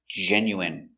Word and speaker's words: genuine: genu genuine genuine genuine first syllable stress genuine genuine genuine let's